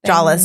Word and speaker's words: Jolles: That's how you say it, right? Jolles. Yeah, you don't have a jaw. You're jawless.